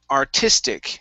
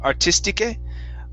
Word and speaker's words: artistic: Next, we have artistic. Instead of artistique, artistic. And on that K sound.